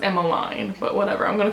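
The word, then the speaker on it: Emmaline: Because I was spoiled on the book and I knew that Emmeline, her name's pronounced Emmeline, but whatever, I'm gonna call her Emma.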